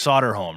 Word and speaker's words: Soderholm: Correct me if I'm saying your last name wrong. It's Soderholm, right?